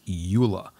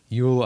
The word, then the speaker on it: Euler: me it's got an e and a u and an l and an er you'll uh no euler euler all right so we